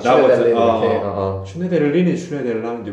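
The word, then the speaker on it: Schneiderlin: 슈네데를린이 슈네데를라는데, 왜냐면 이그 이름을 자체를 그냥 읽었을 때는 당연히 이거는 독일계 이름이고 그 슈나이덜린이겠지. 뭐 독일어는 어떻게 발음하는지 모르겠지만, 근데 이거를 프랑스식으로 읽으면 슈네데흘랑이 될 거야. 근데 뭐또 자기가 또 발음하는 방법이 있다는 거지.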